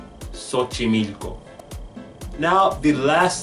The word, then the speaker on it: Xochimilco: I have found that it sounds like an S when we X starts a word not all the time